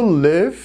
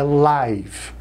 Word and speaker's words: live: Verbo live, que é o verbo viver. Muito cuidado com a pronúncia, pessoal. Ao vivo é live. E o verbo viver é live, ok?